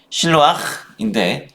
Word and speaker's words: 실로암: 실로암의 히브리어식 발음은 실로아흐인데 이는 보냄을 받다라는 의미를 갖습니다. 즉 기온샘에서 보내진 물이 바로 실로암인 것입니다.